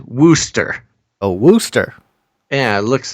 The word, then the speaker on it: Worcester: I'm getting from the chat is that it's pronounced Worcester a Worcester yeah it looks like some people actually know